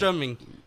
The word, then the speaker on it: surströmming: It's called surströmming, Yeah. right? Did I say it right? How do you say it? Surströmming.